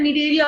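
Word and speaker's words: Cnidaria: निडेरिया बोलते हैं इसको हम. It's also called as phylum निडेरिया. C silent रहता है, निडेरिया या सिलेंट्रेटा.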